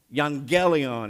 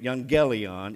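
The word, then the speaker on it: εὐαγγέλιον: in Hebrew Young Gallion young jelly on is how you pronounce it in Greek young jelly on is the word for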